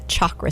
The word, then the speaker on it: chakra: for you Chak are a lot of people will say chakra but it's a hard Chuck like you're saying chalkboard it's a chakra system and it's Sanskrit